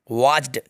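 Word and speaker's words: watched: वॉच्ड, इसमें बच्चों T silent है, टी को साइलेंट करके पढ़ना है आपको।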